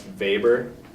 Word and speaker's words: Weber: main guy for bureaucracies that's vapor but it's w spelled with a w but weber so remember that purple